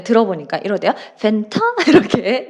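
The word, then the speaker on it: Fanta: 펜타 이렇게 네. 우리의 발음과 조금씩 다를 수 있으니까 그냥 그 발음으로 그대로 얘기를 하시면 되는데 다만 주의하실 거 사이다는 영어로 뭐라고 해요?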